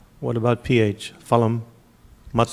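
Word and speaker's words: फलम्: Phalam, matam. So it's pa. Yes, PH is pa. So just a P, but more air to it. Phalam.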